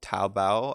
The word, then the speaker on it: Taobao: a digital store called Taobao I believe is how you say it in China this is a likely